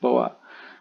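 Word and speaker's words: bō: is called the boy it's spelled b-o but it's got a stroke on top so it's pronounced boa um sort of like the snake and on the bottom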